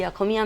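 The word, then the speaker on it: অসমীয়া: में आ जाती थी, अखोमिया में। असमिया, उसका अखोमिया प्रोनाउंसिएशन होता है।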